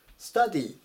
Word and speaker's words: study: 発音が注意です。この部分を to じゃなくて ta っていうふうに読みます。